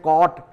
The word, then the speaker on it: caught: तो UGH का यहाँ पर साइलेंट हो जाता है और डायरेक्ट उसको कॉट कहा जाता है, यानी उसको पकड़ लिया, या पास्ट टेंस में जिसका यूज़ किया जाता है।